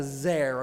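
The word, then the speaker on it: זר: In Hebrew, we call that a zer. Imagine in English it's spelled Z-E-R.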